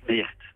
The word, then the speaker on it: Meert: Alors, dans le Nord, Mère, on prononce Meert.